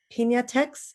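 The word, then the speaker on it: Piñatex: is the inventor of is it pinatex is that how i pronounce it sorry absolutely thank you thank you um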